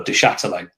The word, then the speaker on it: Duchâtelet: Charlton fans did the tennis ball protest for Duchâtelet. That's how you pronounce his name, by the way.